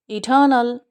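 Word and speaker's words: eternal: इटर्नल, इटर्नल, इटर्नल। और American vowel sound के बाद आ साउंड को प्रोनाउंसिएट करते हैं।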